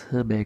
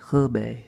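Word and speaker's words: Hubei: Bay province I guess I've learned to pronounce hood bay correctly since the woman corrected me on the bus when I said we're going to hoobie province and she said obey a little bit province okay dai temple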